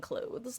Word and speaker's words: clothes: I hate the word clothes because I like to pronounce the silent t in clothes like I always have. So knowing that people just pronounce like that people basically pronounce it clothes like c l o s e just something about it